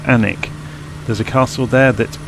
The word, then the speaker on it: Alnwick: Alnwick here, oh Alnwick as it's spelled, it's Alnwick.